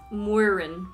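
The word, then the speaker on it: Máirín: in say that's slower moirin is it m or w at the beginning it's m w there's no w i'm wearing sound the sound is mw can you not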